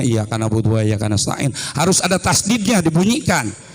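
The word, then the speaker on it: إِيَّاكَ نَعْبُدُ وَإِيَّاكَ نَسْتَعِينُ: Jadi jangan sembarangan bacanya iyyaka na'budu wa iyyaka nasta'in. Harus ada tasdidnya, dibunyikan iyyaka na'budu wa iyyaka nasta'in.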